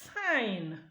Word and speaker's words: sign: phon in question is G so I have s e g so instead of to call it sign or sign it becomes sign because when this G